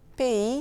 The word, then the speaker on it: pays: Pays, c'est P-A-Y-S. Le S final est silencieux et le Y, il est en quelque sorte un double I.